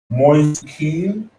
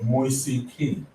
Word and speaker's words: Moise Kean: Moise Kean.